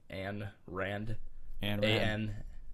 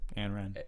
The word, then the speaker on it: Ayn Rand: So there's a cool quote by, I don't even know how to say this name, Ayn Rand. Ayn Rand.